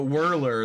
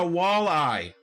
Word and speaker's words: walleye: all day you know whirler that's the one that gets me say it right please it's a walleye wall eye enunciation yeah anyway y'all i